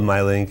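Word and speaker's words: Mylnk: which I understand was originally supposed to be pronounced my L and K right right so it's a it's called my link and the Ln K is from the airport code but we really thought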